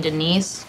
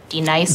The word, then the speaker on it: Denise: Now, D-Nice. Do you mean Denise? Son of a bitch! You say your name right now. Denise? Say it right. Denise. Correctly. Denise. Right. Denise. Right. D-Nice. That's better.